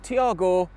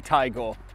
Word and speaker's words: Taigo: Not Tiago, definitely Taigo.